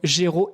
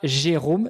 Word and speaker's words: Géraud: m'en dises plus sur ton prénom, Géraud, et non pas Jérôme. Ça s'écrit Géraud, G-E-R-A-U-D. Et puis après, sur le nom